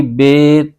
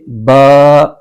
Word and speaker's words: ب: لہجے میں ادا کریں۔ اردو تلفظ سے پرہیز کریں، یعنی بے، تے، سے، خے وغیرہ ہرگز نہ پڑھیں، بلکہ با، تا، ثا پڑھیں۔ ان 29 حروف میں